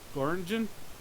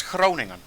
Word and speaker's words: Groningen: Groningen? Yeah, okay, you fucked it up. Exactly. I was like, It's Groningen.